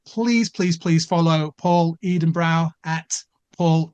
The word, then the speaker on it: Edenbrow: Please follow Paul Edenbrow at Paul Edenbrow. That's how it's spelled.